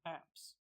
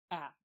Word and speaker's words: app: is the first word and app where I live in China people call this an AP P that is how they say it in Chinese and many students say that in English as well this is not correct though and you should not say that in the IELTS exam app is short for application and whilst